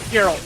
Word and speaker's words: Geralt: Oh, Gerald. Geralt. You said Geralt. Geralt. I mispronounced that.